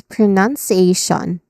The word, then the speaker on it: pronunciation: And then it ends with again t i o n. It ends with shun. So this is pronunciation.